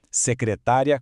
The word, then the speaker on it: secretária: Secretária com acento é a prof. são a pessoa.